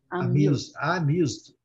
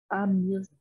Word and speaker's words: amused: Não tem E nenhum aqui, não. Amused. Amused.